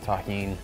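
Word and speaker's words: Tajín: out to everybody that knows the deliciousness of Tajin yeah that's how you pronounce this yeah and delicious with the addition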